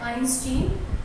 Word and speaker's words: Einstein: कुछ बच्चे इसको प्रोनाउंस करते हैं आइंस्टीन, वो उनके फिजिक्स पे डिपेंड करता है, बट I pronounce it as Albert आइंस्टाइन.